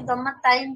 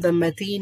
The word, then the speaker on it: ضمتين: দম্মাতাইন হবে নাকি দম্মাতাইন হবে? আচ্ছা, শব্দটা হচ্ছে দম্মাতেইন, এটাকে আরবে বলার সময় দম্মাতিন বলে, ঠিক আছে?